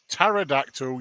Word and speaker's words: pterodactyl: know you cannot hear a pterodactyl urinate the p is silent oh no holy where